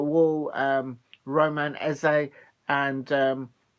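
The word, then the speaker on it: Esse: M wall um Roman e and um it's spelled e s e but it's pronounced uh as if you're writing an essay um that's why I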